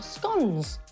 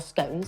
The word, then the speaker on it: scone: of each of your scon or scones depending on how you say it once you've done